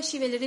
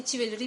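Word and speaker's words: chivalry: ही हैड नॉट, इसको बेटा शिवेलरी भी पढ़ लेते हैं, चिवेलरी भी पढ़ लेते हैं, किवेलरी भी पढ़ लेते हैं. सो इट has different pronunciation in different you कैन say websites.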